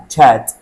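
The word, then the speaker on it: chat: طب مستر هو دي اسمها شات؟ لا اسمها تشات. حرف الاتش في الاول كده فنقولها تشات.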